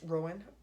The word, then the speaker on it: Roen: of or tried rowan i think it's pronounced rowan rain r-o-e-n um here are our